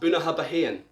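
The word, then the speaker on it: Bunnahabhain: how it looks it's bona habahin so you pronounce that buna habahen so if you want one of these 18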